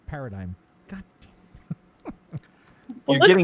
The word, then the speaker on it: paradigm: How was I able to read verisimilitude without a problem and not paradigm? God damn. You're It looks getting like better. a hard G. It looks like a hard G.